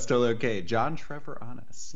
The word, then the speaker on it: Treviranus: And I know I just butchered your last name there. No, it's still okay. John Treviranus. Treviranus.